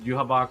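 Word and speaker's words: Yhwach: you know yaha cuz that's how they pronounce in the anime is yabok whatever you want to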